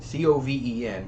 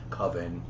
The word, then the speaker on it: coven: he calls it coven c-o-v-e-n but it's actually pronounced coven as we all know it's sort of the witch's coven um and they actually